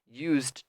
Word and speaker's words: used: very good yet and you want to say used to make sure you have good IDI pronunciation with a D sound used used because this e ignore it is ill you will never say use it that is um the the e there is not correct you know it's not said don't say it we don't use it so don't say it used just one word one syllable altogether okay but that's it